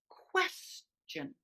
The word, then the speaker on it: question: And question. question, question, Question. Question. And question, notice for the unstressed syllable in question, the TION becomes really minimized.